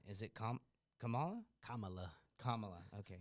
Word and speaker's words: Kamala: the uh Cala Harris Kamala is it Kamala Kamala Kamala okay it's just three syllables it's why can't people get that right okay this question is